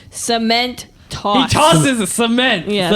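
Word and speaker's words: Cementoss: Cement toss.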